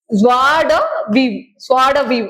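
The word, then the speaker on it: joie de vivre: ஸ்வாட வீவ் அப்படின்னு தான் இதை வாசிக்கணுமா. சரியா? ஸ்வாட வீவ் ஸ்பெல்லிங் ஆனா வேற இருக்கும். பட் ஸ்வாட வீவ் அப்படிங்கறத ப்ரொனவுன்ஸ் பண்ண கொடுத்துருக்காங்க. இது என்னன்னா சந்தோஷத்தை குறிக்கும், வாழ்க்கையோட ஹாப்பினஸ் குறிக்கக்கூடியது.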